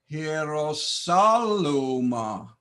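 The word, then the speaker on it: Ἱεροσόλυμα: Hierosaluma. Once again, Hierosaluma. Accent over omicron. Notice this is not a diphthong. Iota, epsilon. So I must pronounce both vowels.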